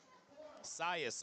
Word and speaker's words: Cius: And we've got Sirius Rivera, or Cius, I'll have to ask him how that's pronounced. Cius Rivera, 215 kilos, 473 pounds. Sias. Okay, I hear Big Gino in the back saying Sias, so we're going to call him Sias.